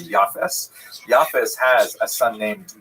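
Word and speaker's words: Japheth: In the Ashkanaz pronunciation that would be Yaf.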